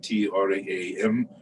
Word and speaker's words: Tram: and moon disk with the seed syllable Tram, T-R-A-M, pronounced Tram.